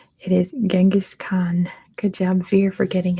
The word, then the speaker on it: Genghis Khan: Veer who put his Mongolian name it is Genghis Khan good job Veer for getting at first the answer is Genghis Khan which apparently you're supposed to say like genesis Khan is like the correct pronunciation but I mean cake is gone don't